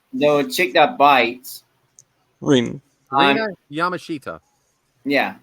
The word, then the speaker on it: Rina Yamashita: Rina Yamashita.